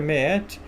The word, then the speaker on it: Maat: Então esses deuses do passado, Osíris, Horus, Meet, né, no caso se escreve Maat, mas se pronuncia Meet, Anubis, esses são aqueles